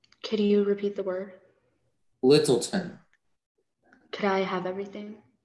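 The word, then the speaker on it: Lyttelton: your word is littleton can you repeat the word littleton could i have everything littleton is the only pronunciation um it's a noun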